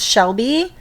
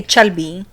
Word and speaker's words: Shelby: Yeah, so they can't pronounce Shelby; they say Chelby or Chelwy because they don't know how to fucking pronounce it.